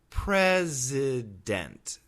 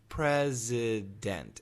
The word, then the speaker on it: president: that is awah sound how about this word president president p r e s i d n t so perfect pronunciation president it has an i i short I sound